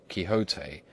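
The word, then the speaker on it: Quixote: to know know that the gentleman's name is pronounced kote when ignorance from out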